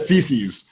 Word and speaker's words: FECS: Yeah, I pronounce it feces, right? Because it feels like you're swimming in your own crap sometimes as an entrepreneur.